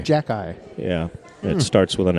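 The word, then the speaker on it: Xhekaj: I don't remember his first name, but his last name is Jack-Eye. That's how you pronounce it. Jack-Eye. Jack-Eye.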